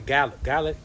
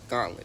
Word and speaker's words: gauntlet: We call it the ga galet. Gauntlet.